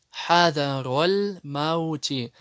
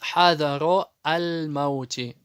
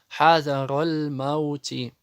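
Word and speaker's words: حضر الموت: Хадароль маути. Многие допускают ошибку и читают хадаро аль-маути. Вот эта хамза туль-васль она не читается, потому что она пришла в связке слов. Хадароль маути.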